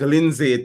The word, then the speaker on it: Lynsay: And I know Lindsay because her name is spelled Lynsay. That sounds like Lindsay to me.